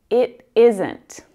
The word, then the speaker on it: isn't: It isn't. Now, because that T sound comes between two vowels, it actually sounds a lot more like a D in my accent.